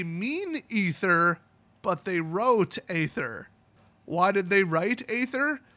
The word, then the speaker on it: aether: and it's a so the word a e t h e r is in English pronounced ather I know that they mean ether but they wrote Aether why did they write